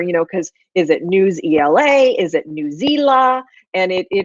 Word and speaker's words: Newsela: to make sure you know because is it new zla is it newsela and it is pronounced newsela newsela so I just want to share that out